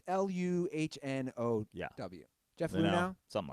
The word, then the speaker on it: Luhnow: Is the GM, how's his last name pronounced? Is it Jeff Luhnow? It's Luhnow.